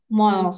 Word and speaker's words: 말: mall, Hmm. mal, mel, mall gitu ya. Tapi kalau Korea tuh L-nya tuh teman-teman lidahnya di tengah gitu.